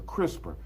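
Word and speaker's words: CRISPR: It's a crisper, right? And I'm not talking about the thing in the refrigerator. So, move away from the refrigerator. All right. It's not that. It's spelled C R I S P R.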